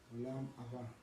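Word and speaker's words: Olam Haba: Y bueno, para darle la pronunciación adecuada, Abba. Es acento en la última A. Olam Abba.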